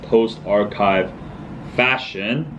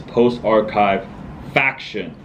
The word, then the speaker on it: Post Archive Faction: so let me clarify some people pronounce or know it as post archive fashion but that is not it the per the correct name is post archive faction meaning the kind of the group faction so um so if